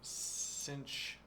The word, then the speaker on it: sinh: Whereas the name Cinch is pronounced cinch.